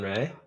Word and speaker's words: Rea: try to change it, so I'll keep it spelled that way, but it's pronounced Rea.